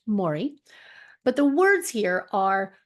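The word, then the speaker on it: Māori: a a Mory face uh pattern some people pronounce it Maui but I was told when I was in New Zealand many years ago that it's actually pronounced Mori but the words here are Will To Power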